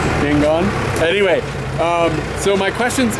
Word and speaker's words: Yangon: back from manderlay down back to yon so Yangon am I saying it wrong again you were really close Yangon anyway um so my